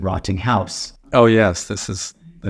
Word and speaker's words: Rottinghaus: a u s uh despite how it sounds rotting C German I like to pronounce it rotting house oh yes this is